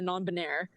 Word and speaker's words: non-binaire: And then they said it's for the queers and the non-binaire, which is how you say it in French.